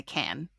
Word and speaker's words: Cannes: If you're an American, it's accepted that you say can.